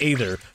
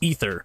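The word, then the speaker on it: aether: annoying calling it The ather cuz the the word AE t h e r is pronounced ether but everyone called it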